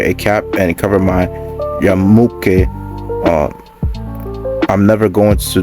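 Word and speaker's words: yarmulke: that I don't know if that's how you pronounced that word it says his attacker remained on the loose Wednesday of salaki it's yamaka that's what it is so yeah other than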